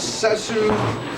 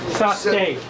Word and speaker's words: Sasuke: Next on the list, Isabel Park as Sesu. Sasuke.